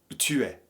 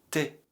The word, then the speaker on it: t'es: Tu es se prononce en français familier t'es.